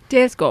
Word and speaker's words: Dalsgaard: Dalsgaard would be the Danish pronunciation.